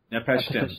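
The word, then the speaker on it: Napishtim: Nepashtim. There's no other I. I don't know why you're adding the second I to, but yeah. It's Nepashtim, I haven't played it,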